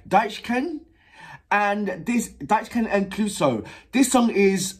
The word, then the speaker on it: Deichkind: If you don't know who, let me just make sure that I'm pronouncing the name right. Deichkind.